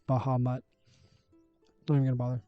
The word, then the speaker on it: Bahamut: And then Bahmut. I'm assuming that's how you pronounce that. Although, you know what? It's It's like Baham, but it's Bahamut. Don't even bother. Bahamut.